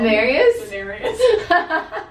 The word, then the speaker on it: Daenerys: Daenerys.